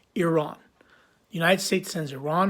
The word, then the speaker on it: Iran: of your country incorrectly I believe it's Iran it's not Iran it's not Iran it's Iran so if please I'm